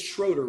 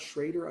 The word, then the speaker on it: Schroeder: It's Schroeder, right? Not Schrader. I don't want to mispronounce it.